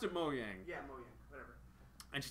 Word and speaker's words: Mojang: And they pronounced it Mojang.